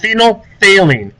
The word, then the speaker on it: phenolphthalein: to be using later in the year it's pronounced phenolphthalein in basic solution it tends to be purple